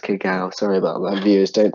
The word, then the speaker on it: cacao: Ah, cacao. Cacao, that would be correct in saying it's actually pronounced cacao.